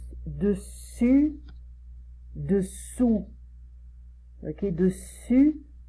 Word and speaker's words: dessus: Et on prononce dessus, dessous. Ok, dessus, dessous. Je retire la langue. Dessus, la langue elle est devant, derrière mes dents. Et dessous, je retire la langue.